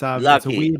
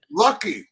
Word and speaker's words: Lachy: So it's Lachy. It's Lachy. A weird Okay. Australian name. It's spelt strange. All right. Lucky.